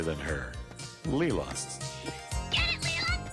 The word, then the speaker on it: Leela: Get it, Leela, get it! Not Layla, as I had originally pronounced it.